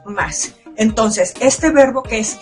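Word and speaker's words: ます: importante recordar es que aunque la palabra dice más su y terminar con el sonido y esta última uno no se pronuncia únicamente decimos más entonces este verbo que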